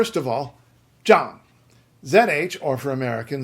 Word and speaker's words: Yang: You're just not and the yang is yang jang jang.